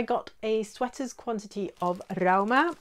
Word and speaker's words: Rauma: So I got a sweater's quantity of Rauma, or Roma as apparently people in Norway pronounce this, in one of their new fall colours.